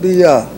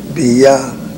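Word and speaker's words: Beyah: Number 14, Brother Muhammad Bia. He spells that name Bia, B-E-Y-A-H. Some spell it B-E-Y, Bay.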